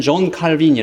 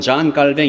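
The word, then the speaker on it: Calvin: 세워놨는데이 중에 한 면이 지금은 전 가뱅 이렇게 불러요 옛날에는 존 칼빈이 했죠 어 원래 발음은 전 깔뱅 있데이 프랑스 사람입니다 마틴 루터가 종교 개혁을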